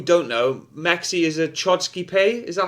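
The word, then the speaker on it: Chodský pes: It depends. I think the people from Czech Republic would pronounce it the best, but it's Hodskipes. I think for them we say Chodskipes, or you can just say Bohemian Shepherd.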